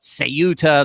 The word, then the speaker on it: Ceuta: Ceuta, for those unfamiliar, some call it Sayuta, there's a bunch of different pronunciations, but I generally say Ceuta, it's a tiny Spanish enclave sitting on the northern coast of Morocco.